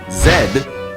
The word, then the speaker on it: Z: and sometimes as Z Zed is an older pronunciation which was borrowed from French Z comes from a